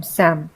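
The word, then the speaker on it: psalm: वैसे ही सैम में पी बिल्कुल साइलेंट है। ऐसा लगता है कि हम बोल रहे हैं एस ए एन सैम। लेकिन इसका उच्चारण बस सैम होता है।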